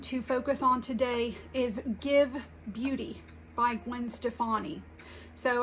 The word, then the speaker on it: GXVE: Her brand is spelled GXVE. It's pronounced Give.